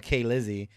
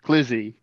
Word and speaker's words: Clizzy: And then the last one I have here is Kay Lizzie. I think we know who that is. Oh, yeah, yeah, yeah. Okay, first off, it's pronounced Clizzy. Clizzy.